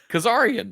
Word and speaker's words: Kazarian: but also what how do you say it Kazar he's always been he's been wrestling for 25 years you don't know his name what did I say Kazarian Kazarian yeah that's what I said that's that's